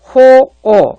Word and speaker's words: 호오: 인사왕환하기를 상가하며 신견타오 하며 여기 악할 악자를 남을 미워한다 할 때는 악이라고 읽지 않습니다. 미워한다. 미워하는 상대가 바로 좋아한다는 의미죠. 좋아할 효, 미워할 오입니다. 호오 이렇게 발음을 하죠.